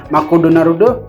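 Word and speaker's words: マクドナルド: hangover on Sunday morning you can see how the pronunciation get changed as a word are taken into Japan in fact McDonald's apparently decide to leave off the s in the Japanese version of its name as Mak narudo six syllables was enough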